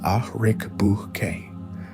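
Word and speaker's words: Ariq Böke: Arik Boke, pronounced Ahrik Buke, the youngest of the brothers,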